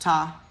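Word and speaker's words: Ptah: I'm pretty sure it's pronounced Ta. It's P-T-A-H.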